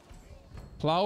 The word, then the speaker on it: plow: __ ] right now plow rhymes with cow I got it thank